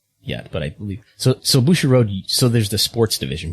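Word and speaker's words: Bushiroad: And we will go from Mexico to Japan, and the finances of Bushi Road. Did I pronounce that correctly? Bushi Road?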